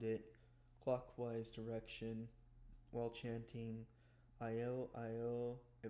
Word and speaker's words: Io: begin circling around it clockwise direction while chanting Io. Pronounce oh pronounce yo-yo.